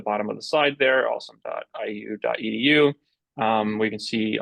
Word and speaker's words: OSoMe: um so the observatory on social media or awesome as the Acron is pronounced is a joint project of the ly